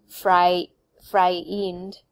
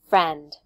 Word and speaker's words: friend: It's not fry-e, fry-eend, right? No, it's eh, friend, eh. Only one vowel sound.